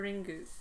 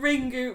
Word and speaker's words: Ringu: The American trailer for ring pronounces the word as ringu. But in fact, Japanese word Japanese words must end either with a vowel or an n. The U should be pronounced a softly vocalized schwa.